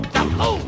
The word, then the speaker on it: doubloon: It's a trebbin' dabba palabu, curse a double dabu up doobie doo. No, you're saying it wrong! It's Bluebeard Baboon's curse of the double Doubloon!